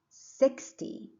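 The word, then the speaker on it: sixty: then the other word six and zero is 60. so the stress is on the first syllable 13 the same second syllable 30 first syllable 17 70.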